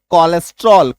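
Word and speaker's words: cholesterol: Next rule है हमारा जब किसी शब्द के शुरू में सीएच के बाद ओ एल आ जाए तो सीएच का उच्चारण क होगा। जब किसी शब्द के शुरू में सीएच के बाद ओ एल आ जाए। ठीक है? और उस तो ऐसे केस में भी सीएच का उच्चारण क होगा। सीए के बाद ओ एल सी एच ओ एल ई एस टी ई आर ओ एल कोलेस्ट्रोल क सीओ एल है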